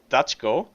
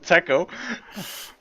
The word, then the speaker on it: Taco: I mean and now they are all calling me dutchko instead of Taco okay just uh there you know pronouncing your name uh like uh it's read in Serbian and yeah yeah making